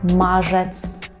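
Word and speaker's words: marzec: валентинки валентинки наступний місяць мажец мажец увага на вимову мажець у березні в марцу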